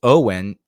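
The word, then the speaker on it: Eoghan: Uh, well, his name is Owen. E O G H an unless I've got it like butchered the ever living shit out of it.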